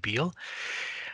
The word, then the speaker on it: Beall: is Beal and you spell my last name b as in boy e a l l pronounce it Beal I'm from the United